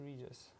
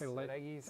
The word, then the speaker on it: Regis: you know, I say Regis, Regis. I like the hard G.